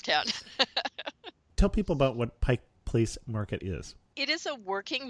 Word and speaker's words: Pike Place Market: the wrong State and locals say Pike Place Market we don't say Pikes okay Market or if we're going to shorten it we say the market and any other name